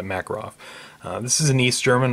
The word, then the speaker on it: Makarov: I know the Russians pronounced it Makarov, but for the purposes of our video we're going to be all American and call it a "Makarov" this is an East German model.